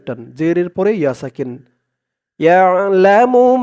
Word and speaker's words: يعلم: ইয়াশফাউ ইনদাহু ইল্লা বিইযনিহ, ইয়ালামু মা, ইয়া দিয়ে আইন ধরবে, ইয়া, আইনের উচ্চারণটা গলার ভিতর থেকে শক্ত হয়ে আসবে, ইয়া লা মু, ইয়ালামু